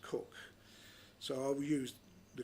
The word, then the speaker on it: Coke: Now, I often pronounce it Coke, but it is pronounced Cook, so I will use the correct term, Cook, the second Earl's younger brother.